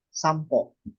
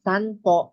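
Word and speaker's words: 散歩: Yes, kapag letter P ang kasunod ng N, magiging M ang sounds nun. Sampo. Letter M ang pronunciation ko. Sampo. Instead na sanpo, magiging sampo. Ibig sabihin, may mga didepende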